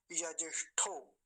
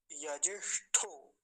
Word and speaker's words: यजिष्ठो: आगे देखिए ये वाला शब्द जो है, यजिष्ठो, यजिष्ठो, फिर वही मूर्धन्य शकार और नीचे ठकार है, तो उनका भी उच्चारण हम ध्यान से करेंगे।